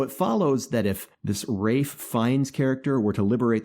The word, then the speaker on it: Ralph: man sir rafe fein's name is pronounced rafe even though it's spelled ralph so if that's good